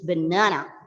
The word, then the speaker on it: banana: But as per British pronunciation, it is banana. Okay. The second syllable has got a long R sound.